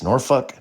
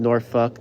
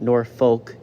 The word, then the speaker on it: Norfolk: But yeah, it's it's Norfuck. Norfuck, Virginia. Show two at the Norva in Norfuck, Virginia. And yes, it is pronounced Norfuck, not Norfolk, which most people would probably think.